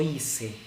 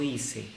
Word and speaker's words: hice: La C antes de E. En Hispanoamérica tiene sonido de S y en España tiene sonido de Z, ¿no? Entonces sería, por ejemplo, yo hice.